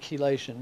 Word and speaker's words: chelation: Well, keation means the word keelation means metal binding. And chelation comes and that comes from the word keeli ce the hard C like in chemistry.